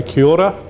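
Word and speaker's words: Kia ora: one thing that they've learned and this is kiora which means hello in maori so say kyora at the end of the session i'm going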